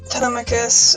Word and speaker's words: Telemachus: this chapter the mommy wanting to realize with telemachus that's how you pronounce his name is done it's pretty heartwarming